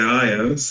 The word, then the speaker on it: heirs: To obtain a straight destination and river, monks are the owners of their karma, the heirs of their karma.